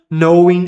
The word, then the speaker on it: knowing: knowing jamais de forma alguma nunca será lido a palavra K antes da palavra no ou knowing or. Qualquer derivado da palavra, não se fala essa letra K.